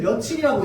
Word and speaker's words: 며칠: 몇일이라고 아무도 얘기 안 합니다. 우리는 며칠이라고 얘기해요. 근데 문법적으로 근거 찾을 수 있어?